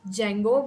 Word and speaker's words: Django: writing the spelling because it's pronounced as Jango but the spelling comes with a d so enter here we'll